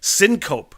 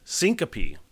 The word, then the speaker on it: syncope: sentence in the podcast syncope nope that's not how you pronounce that syncope syncope okay uh s-y-n-c-o-p-e syncope syncope it's like when I peed in my friend's sink once Sorry Brad